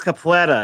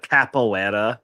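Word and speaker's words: capoeira: No, it's capa. It's not capoera. It's capa. Capa. You saying it's so white, bro. I'm saying it Brazilian. That's how it's pronounced.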